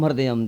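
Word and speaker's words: हृदयम्: Pronounce Hri, Da, Yam. Hridayam.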